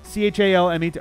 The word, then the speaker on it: Chalmette: Asserted that he grew up in New Orleans and described having, quote, an entire family in Chalmette, Louisiana. I don't know. Say it like he would say it. Chalmette. Chalmette.